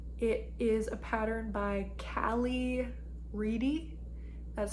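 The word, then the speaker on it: Kalley: It is a pattern by Callie Reedy. That's spelled K-A-L-L-E-Y, Reedy, and it's a pattern that costs $10 US, so it is a paid-for pattern.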